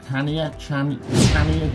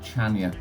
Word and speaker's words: Chania: It's beaten by number 3, Chania. You might say Chania, okay, if you're being English in your pronunciation.